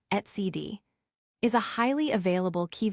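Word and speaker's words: etcd: Etcid developed by core OS now part of Red Hat etc pronounced CD is a highly available key value store used to store critical data in distributed systems.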